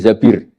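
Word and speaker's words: الزبير: Kemudian saya nikah sama Abdurrahman bin Zabir. Di hadis ini bukan bacanya bukan Zubair, tapi Zabir.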